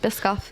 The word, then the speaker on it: Biscoff: Was that how you pronounce it? Biscoff, yep.